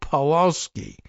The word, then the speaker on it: Pawlowski: This here, a link to Oregon GOP Disruptors with Kerry McQuiston and Joel Pawlowski. Okay, probably Pawlowski, even though it's spelled with a W.